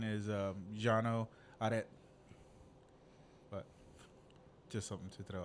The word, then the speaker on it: Cano: orano or right and but is the actual pronunciation is um Jano but just something to throw out there oaner